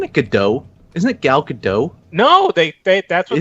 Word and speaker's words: Gadot: So I mean, she is kind of her and Gal Gadot looks fairly similar, actually. I gotta call you out on something, Marty. Isn't it Gadot? Isn't it Gal Gadot?